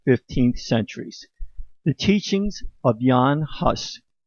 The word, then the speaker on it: Jan Hus: centuries the teachings of jan huss or pronounce yon hus a czech priest and